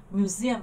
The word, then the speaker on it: museum: Đó, nó sẽ nhấn vào âm thứ hai.